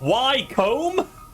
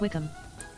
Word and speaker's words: Wycombe: It's not Wycombe! We are not questioning combs. Just wicks, apparently. Actually, it's pronounced Wickham.